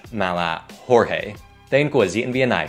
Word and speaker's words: Jorge: Tây Ban Nha, nên họ có những tên có nguyên tắc phát âm theo tiếng Tây Ban Nha. Cho nên, tên này không phải George mà là Jorge.